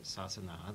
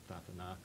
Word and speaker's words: Sasana: for the survival of the Sasana, the Tathana, in the Burmese pronunciation that Matt was referring to in his presentation.